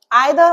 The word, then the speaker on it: either: दूसरी बात जो इदर नीदर आइदर और नाइदर ये जो दोनों प्रोनंसिएशन है ये बिल्कुल ठीक है। आप आइदर भी बोल सकते हैं इदर भी बोल सकते हैं।